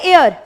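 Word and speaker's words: hour: एन एयर। जैसे वारिस कहते हैं जिसे हिंदी में, ठीक है, एयर, EH silent, honest, H silent, इस।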